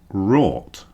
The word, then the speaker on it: wrought: So all of these come with or. Ought, naught, thought, bought, brought, sought, fought, and wrought.